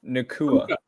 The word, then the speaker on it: Nacua: How do you pronounce this receiver's name? Puka Nacua.